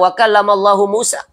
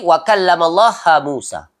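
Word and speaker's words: وَكَلَّمَ اللَّهُ مُوسَى: Patut bacanya adalah wa kallamallahu Musa. Ya. Tu. Dia tukar jadi wa kallamallaha Musa.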